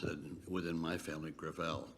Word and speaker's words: Gravel: With all due respect, let me correct, I pronounce it within my family, Gravel. Gravel? It's a French name.